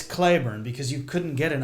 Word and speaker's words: Cleburne: people come in and they'll say they're from Cleburn, Texas because that's how Texans pronounce the town. There was a town named after him, but it's Clayburn because you couldn't get an Irishman to be able to say Clayburn.